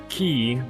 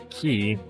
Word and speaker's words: quay: But I think I can say with certainty that it is key as in a key that you unlock the door with, but it spelled like so.